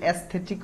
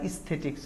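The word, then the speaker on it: aesthetic: values ইস্থেটিক and tradition আর এটার উচ্চারণ কিন্তু এস্থেটিক হয় আবার ইস্থেটিক্স হয় মানে দুটাই কারেক্ট এরপরে নাম্বার থ্রি হচ্ছে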